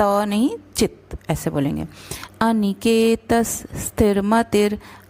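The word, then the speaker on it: अनिकेतः: अनिकेतस स्थिरमतिर, अनिकेतस त के बाद विसर्ग, तो उसका उच्चारण स रहेगा।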